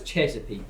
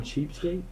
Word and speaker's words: Chesapeake: to say to asck you know it's Chesapeake they right that's what you're calling cheap skate weren't you saying it wrong okay I corrected myself